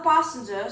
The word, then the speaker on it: passenger: Another passenger sat beside the driver. Okay, another is correct. Passenger, you want a smiley A.